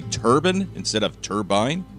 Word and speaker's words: turbine: turbine instead of turbine now turbine is actually the original pronunciation for the word turbine is more of a British pronunciation now as a student of the English language I think it's fascinating how language and pronunciations change over time and it's gotten to the point where a lot of Americans have never heard the American pronunciation turbine turbine turbine after the